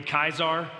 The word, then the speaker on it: Caesar: So we say Caesar salad, it would be Kaisar, which if you hear that, you know why the Russian rulers are called what they're called.